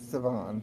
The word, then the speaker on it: Siobhan: but Siobhan spelled the Irish way is crazy. It's like Siob something something something. It's something crazy. I'm like, what the? How the fuck does this make Siobhan?